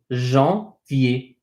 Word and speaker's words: janvier: Okay, so this is pronounced janvier. Janvier. So we have an A-N. The A-N is en.